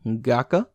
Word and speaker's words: gakka: them in a row for example in the word uh gakka the speaker stops and waits for one beat before pronouncing the sound so it'd be more like although there are few